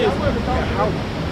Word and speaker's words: Yahweh: Hebrew for it, and the pronunciation is Yahweh.